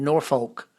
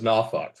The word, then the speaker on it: Norfolk: Eric, how do you say it? Well, I'm southern and we even made a t-shirt during Pride that says Nafuk. Nuk. N A WF UK.